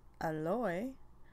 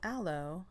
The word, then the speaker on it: aloe: the week is aloe it's actually pronounced aloy but because everyone pronounces it aloe i'll just refer to